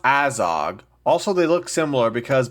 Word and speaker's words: Azog: Azog? It's pronounced Azog.